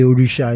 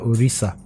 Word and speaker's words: Orisha: call our character orisha but they didn't know the right pronunciation they were probably reading it how it was spelled yeah so they called that urisa yeah so I was